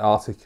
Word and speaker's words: Arctic: I can't actually say Arctic. I also say Arctic, like everybody. I never pronounce the C.